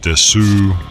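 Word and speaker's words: です: Ah, ここに参 whether it's Des or Desu, it's technically Desu, but pronounced Des.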